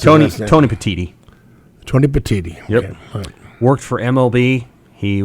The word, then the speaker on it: Petitti: we knew yesterday but Tony how do you pronounce Tony petiti Tony Petitti yep worked for MLB he was the number